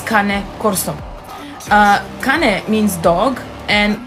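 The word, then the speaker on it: Cane Corso: many people are saying that she is not pronouncing the name of the breed right in fact she is it's kane corso uh kane means dog and corso means guardian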